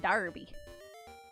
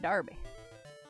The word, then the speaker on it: Derby: Pronounced Darby. Instead of Derby, you would think it's Derby, but no, no, no, it's Darby. Yeah, try that Sage Darby.